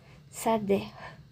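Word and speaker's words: שדה: Sader. Sader. Aqui nós temos um sim, um dalet, um ré e ã como vocalização temos um camet que é um a longo, e um segol que é um e.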